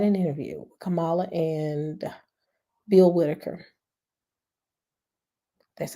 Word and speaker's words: Bill Whitaker: But just recently, they had an interview with Kamala and Bill Whitaker. That's how you pronounce his name.